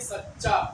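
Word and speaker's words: سچّا: तरीके से आगे देखिए सच्चा च पर त तो च को दो बार पढ़ेंगे यानी सी च जबर सच और च जबर चा लेकिन जब जोड़ के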